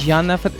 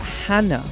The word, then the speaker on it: Jana: You would say Jake then Janna cuz I thought it was more like Hannah. So in Catalunia in my region is Janna because we speak Catalan.